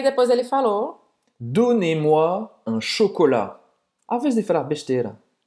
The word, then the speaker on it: chocolat: e me dê um chocolate. Então presta atenção aqui, tá? Não é un chocolate. É o quê? Un chocolat. Você não vai pronunciar o T.